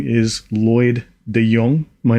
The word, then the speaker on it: De Jongh: who don't know me my name is Lloyd deong my name is continuously spell badly but yeah it's pronounced deong so I'm an ex security expert I have